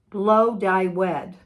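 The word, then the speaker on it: Blodeuwedd: this coming week oh it's pronounced blow dye wed she was wedded to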